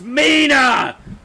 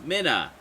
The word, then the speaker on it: Mina: It's Mina! One N, Mina. Two N's, Minna. It's one N. Therefore, Mina.